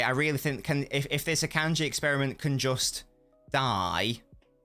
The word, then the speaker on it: Akanji: Yeah, as I say, I really think if this Akanji experiment can just die right now, that would be great. Because that's how it's pronounced.